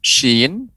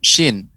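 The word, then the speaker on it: شين: Tidak boleh monyong bibirnya. Aush, kurang tepat, ya. Akan tapi pengucapannya tetap menjaga bibir kita pada posisi yang datar. Sya, shi, shu, ash.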